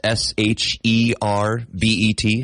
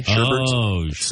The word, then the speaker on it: sherbet: ice cream but it's s h e r b e t sherbet not sherbet it's sherbet is it we add an extra R in there why aren't we saying